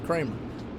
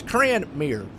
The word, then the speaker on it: Cranmere: Oh, it's is it Cranmere or Kramer? Okay. I think I was saying his name wrong. It's... Oh, I thought it was 2 M's. My bad. I was calling him Preston Kramer. But it's Cranmere.